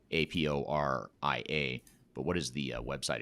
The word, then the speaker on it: Aporia: last name is hasten h-a-s-o-n and the company is spelled aporia a-p-o-r-i-a but what is the website address if if